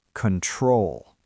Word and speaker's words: control: Think about the word control. We do not say control with a round O sound at the beginning. The stress is on the second syllable. So the first O becomes awah. Control.